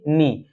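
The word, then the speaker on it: knee: पर के जो होगा साइलेंट होगा एन डबल ई तो इसे पढ़ेंगे नी के एन ओ सी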